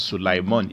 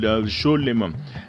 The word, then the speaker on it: Shlomo: From the modern Hebrew pronunciation in the Torah, Solomon is not pronounced as Sulaiman, if you must know.